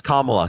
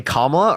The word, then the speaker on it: Kamala: tariffs you know any of kamala's policies yes Kamala can you say Kamala please or vice president